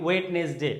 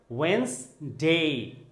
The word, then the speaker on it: Wednesday: Letter দিয়ে কোনো ওয়ার্ডের উচ্চারণ করি, যেমন WED ওয়েট, NESনেস, DAY বলি ওয়েটনেসডে না, বলতে হবে ওয়েন্সডে ওয়েন্সডে ওয়েন্সডে Wednesday Wednesday.